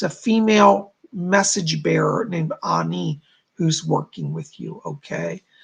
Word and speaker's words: Ani: She spells it A-N-I, and she pronounces it Ani.